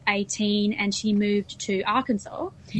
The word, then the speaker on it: Arkansas: I'm impressed that you said Arkansas and not R Kansas because it's one of those weird states like why isn't it pronounced R Kansas?